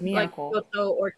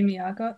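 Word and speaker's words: 都: I think it's only pronounced as to when it's like married with something. Like it's all on its own. So I think it has to be pronounced as miyako. Like, it has to be miyako.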